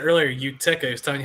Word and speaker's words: Utica: So, phonetically above for you. That's how you say. Utica. That's what he said earlier. Utica.